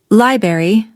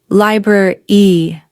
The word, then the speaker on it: library: Did you say library? You're not alone. Many learners accidentally skip the BR sound. A more natural pronunciation is library.